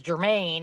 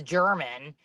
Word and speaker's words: German: kept pronouncing it yeah I thought it was Germaine and she's She's like, "You know, it's German." I was like, "Like the chocolate."